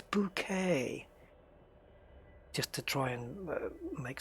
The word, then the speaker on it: Bucket: bucket and every time they call her mrs. bucket she'd turn on and go it's bouquet just to try and